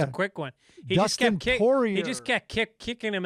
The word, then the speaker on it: Poirier: He Dustin Poirier.